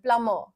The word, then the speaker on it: plumber: ठीक है, are silent होता है, बट यहाँ बी बिल्कुल साइलेंट है। ठीक है, बी हटा हुआ है और आर को आप हल्का सा बोल सकते हैं, प्लमर, मतलब बहुत ही थोड़ा सा।